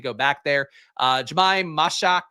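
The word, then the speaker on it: Mashack: Uh Jamaim Mashak Mishak I think is how you're supposed to pronounce that.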